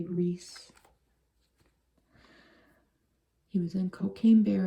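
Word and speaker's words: Rhys: How do you say that? R-H-Y. I looked it up, and I think you say Reese.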